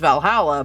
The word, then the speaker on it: VA-11 Hall-A: We're playing a game which I assume it's pronounced Valhalla, but It is.